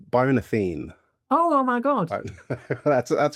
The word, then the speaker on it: Athene: By the way, it's Byron Atheni.